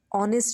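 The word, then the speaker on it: honest: है यहां पर भी ऑनेस्ट इसको पढ़ा जाता है क्योंकि एच इसमें भी साइलेंट है इसे एयर पढ़ा जाता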